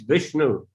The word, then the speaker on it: Vishnu: very subtle things but it's written if you pronounce it in a Sanskrit way it's Vishnu no no but he has written it felt